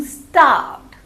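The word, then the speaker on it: starved: तो यहाँ पे मुझे भूख लग रही है तो आई am feeling स्टार्व्ड. स्टार word, आर इसमें साइलेंट है.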